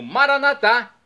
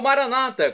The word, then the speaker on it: Maranata: E agora eu clamo Maranatá, como dizemos nós católicos, ou Maranata, como dizem nossos irmãos separados, os evangélicos ou protestantes, não importa a pronúncia, o significado é o mesmo.